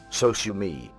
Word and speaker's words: Sosumi: The sound for the Macintosh system was later renamed as Soumi to be said phonetically as Sosumi.